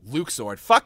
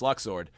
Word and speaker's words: Luxord: luxord it was like oh well Luke sword Luke sword it's luck sword yeah I do when